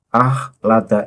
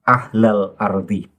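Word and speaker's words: أخلد: Kesalahan yang pertama adalah walau syi'na larofa'nahu biha walakinnahu akhlada ilal ardhi. Jadi memakai hamzah, kho, lam, dal. Akhlada. Taufiq Assegaf membacanya walakinnahu ahla ardhi. Lha ini salah fatal.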